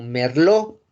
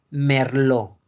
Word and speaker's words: merlot: Como en la palabra, por ejemplo, merlot, que es una uva, ¿no? Una uva francesa. Digo, así. Como merlot. La T no se pronuncia por la regla TES. Entonces la pronunciación es merlot.